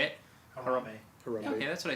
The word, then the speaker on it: Harambe: Harambe.